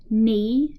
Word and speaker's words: knee: okay so ankle leg knee knock knee knee the K is silent okay then we have